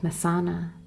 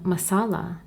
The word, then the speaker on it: Messana: to his own, and was called Messana, and how the people gradually corrupted the pronunciation and called him Massala.